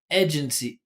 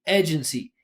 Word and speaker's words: agency: mouth position right so she's basically saying like e like bed like e as in bed. Agency. Agency. That's one mouth position. But the diff thong has two, right? And because we're pushing our voice forward, we hear the sliding. So she says, "E, we say a."